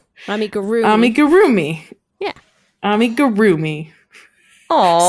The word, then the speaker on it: amigurumi: Accent on the ru. Amigurumi.